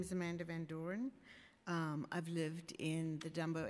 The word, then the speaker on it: Van Doren: Call up the next panel, Adam Westrick, Candace Clemens, and Amanda Van Doreen. Did I say it right, Doreen? Okay. Hi, my name is Amanda Van Doren.